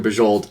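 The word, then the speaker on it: Bujold: that is Lewis someone told me how to pronounce this right was it okay it is Lois McMaster bajold thank you Sean um and I these are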